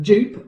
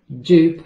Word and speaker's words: JOOP!: In English, it is pronounced, most of people pronounce JOOP, but you can say JOOP if you want to.